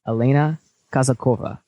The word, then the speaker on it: Elena Kazakova: broadcast of in the trenches today's guest is Elena kazakova how did I did I pronounce that word correct okay perfectly just so